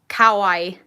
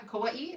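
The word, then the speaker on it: Kauaʻi: the beautiful island of i'm probably going to pronounce this wrong kawaii glad to meet you that's right yeah kauai um that's where aunt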